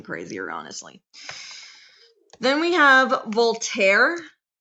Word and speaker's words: Voltaire: Then we have Voltaire. So Volt. So just go like Volt and then air. And then The E is silent.